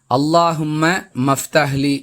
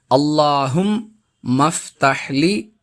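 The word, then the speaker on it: اللهم افتح لي: அன்பிற்குரியவர்களே, அல்லாஹும்ம மஃப்தஹ்லி என்று சிலர் இந்த துஆவை தவறாக உச்சரிக்கக்கூடிய நடைமுறையையும் பார்க்கிறோம். அல்லாஹும் மஃப்தஹ்லி அபுவாப ரஹ்மதிக என்பது இதன் சரியான உச்சரிப்பு.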